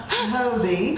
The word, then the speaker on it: Phobee: But I will tell you, if you will call Phobee, or Phobee, I'm sorry, Phobee. The H is silent.